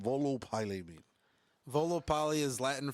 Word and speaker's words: Volo Pylae: He goes by the name of Volo Pylae. Now, I don't know if I said that right. No, you said it right.